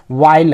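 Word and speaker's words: while: किया जाता है ना एच यहां पे साइलेंस हो गया है वाइल हम उचायथ कर रहे हैं ना और क्लाइमिंग इसमें भी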